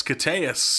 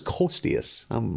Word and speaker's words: Koteas: Elias Koteas. Oh, is it Koteas? I always thought it was Kostius.